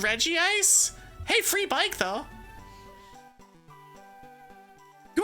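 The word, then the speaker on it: Regice: It should be Reggie Ice by Pokemon being dumb. Do they say that you're supposed to pronounce it re ice? Cuz if they do, they're wrong.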